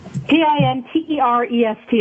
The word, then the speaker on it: Pinterest: it out for you p-i-n-t-e-r-e-s-t it's like interest but pinterest pin p-i-n-t-e-r-e-s okay all right it's interest with the pd so pinterest and it's phenomenal um